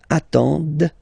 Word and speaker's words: attendent: And the last one, same thing, classic ending for il, elle at the plural form, ent, but then you don't pronounce them. Ils attendent, okay, so remember you get to pronounce this, d at the end, okay.